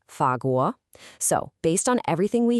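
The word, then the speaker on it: 法国: The word for France in Mandarin is fagu and it's pronounced fago.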